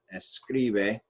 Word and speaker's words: escribe: this part right here, this middle syllable is our stressed syllable. Well, this is our stressed vowel. Right here, this is where we are going to have our stressed syllable right there on that I.